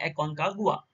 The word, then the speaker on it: Aconcagua: में लोकेटेड है और यहां के जो अदर प्रोनाउंस एशन है वो भी यहां पर देख सकते हैं एकन का गुआ और ये किस कंट्री